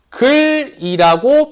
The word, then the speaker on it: 닭을: 그래서 얘 발음할 때 어떻게 발음하면 달글이라고 발음을 해요. 다글. 그래서 달글이라고 발음을 해야 돼.